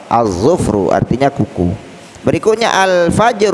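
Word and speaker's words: الفجر: qamariyah Oleh karena itu cara membaca al-nya dibaca dengan jelas al-fajr Oh ya Enggak boleh juga kita baca avager usalah avager usalah karena dia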